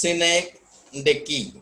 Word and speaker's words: synecdoche: Synecdoche, pronounced synecdoche, is a trope or figure of speech in which a part of something is used to present the whole.